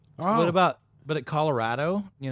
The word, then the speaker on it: Colorado: Oh, What about but at Colorado? Colorado is actually pronounced Colorado, not Colorado.